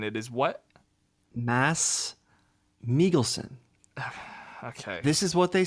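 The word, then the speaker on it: Mads Mikkelsen: say say it again for me it's not mads Mickelson it is what Mass melon okay this is what they say in Denmark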